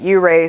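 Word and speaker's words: Ouray: you ask i've heard some people pronounce it you ray some people pronounce it ooray but i spent all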